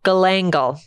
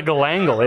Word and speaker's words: galangal: Galangal. Galangal. There's no way that's not a sex thing. Can you spell that word?